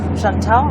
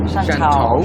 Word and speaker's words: Shantou: Shantou, I'm pronouncing it Shantou.